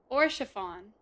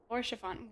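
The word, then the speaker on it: Haurchefant: Oh, and Harshifon is Orchafon. Orchafon.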